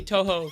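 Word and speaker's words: Touhou: Um but I also want to say Toho cuz that's the proper way to say it.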